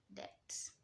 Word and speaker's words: debt: When you see that word, B is silent, so you say debt.